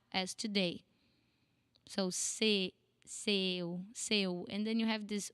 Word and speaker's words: seu: Seu. It sounds more like a no when you think about it.